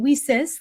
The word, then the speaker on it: WiCyS: And we pronounce it WiCyS, like we sisters, because that's exactly what we are.